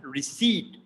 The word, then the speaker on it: receipt: very common one so we pronounce it in the british pronunciation as receipt it is not receipt it is receipt so as you as you can see that i p they are kind of silent and they